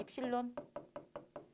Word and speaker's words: 입실론: 그리스 문자에서 보시면 이것을 발음이, 자, 발음입니다. 발음은 얘는 입실론이에요. 입실론.